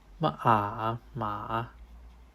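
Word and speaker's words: 马: is pronounced note to this is the third tone not the first tone there a little blur here ma horse and finally the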